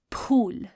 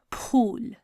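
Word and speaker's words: پھول: So that aspirated sound is produced by do chashmi hai. So it's going to be pe, do chashmi hai, vow, and lam. Pool.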